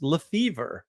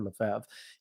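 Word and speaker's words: Lefebvre: but but he like my last name's pronounced lef fever, which makes no sense because it's an Americanization of Lef or or Lefav.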